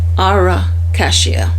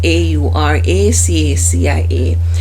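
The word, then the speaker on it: Aura Cacia: And the brand that I use for that is, I'm not sure if I'm going to pronounce it right. It's called Auracacia. It's pronounced that way, and it's spelled Auracacia.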